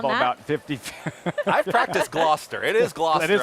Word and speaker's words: Gloucester: I've practiced Gloucester. It is Gloucester. It is Gloucester.